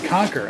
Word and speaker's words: Qonqr: It's Qonqr.